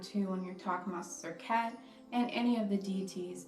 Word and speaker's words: Serket: the deities, and the same thing goes with Serket. You can see her name being spelled a different ways, but it's all really coming down to the pronunciation, Serket.